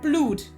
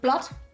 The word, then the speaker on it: blood: blou o d um and I learned in school that a double O is a ooh sound like u sound so it should be blued and it was a